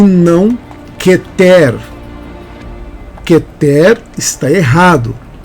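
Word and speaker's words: כֶּתֶר: A palavra keter e você fala que ter na verdade nós falamos queter tá bom mas esse aí é um erro pequeno é um erro simples mas é keter e não quer que ter está errado é keter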